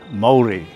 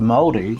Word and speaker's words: Mauri: Alors parlons de Mauri. La première chose à dire est probablement que Mauri n’est pas Maori. Comme vous pouvez l’entendre, ils se prononcent différemment.